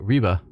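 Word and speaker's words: Ribe: trade from Saxony through Reeba. Ry, I looked it up. It's It's like reeba is how it's pronounced or something to that effect.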